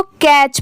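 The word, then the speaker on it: catch: दोनों मिला देंगे तो इसको कैच पढ़ेंगे कैच इसको कैट नहीं पढ़ेंगे इसकी प्रोनंसिएशन यहां पर कैच की हो जाएगी ठीक है यहां पर टी साइलेंट हो जाएगा नेक्स्ट है ऑल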